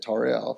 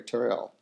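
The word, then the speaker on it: Tauriel: I think that's how you say it, Toriel.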